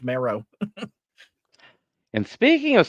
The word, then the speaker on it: Marrow: My last name should be Marrow. It should be pronounced Marrow.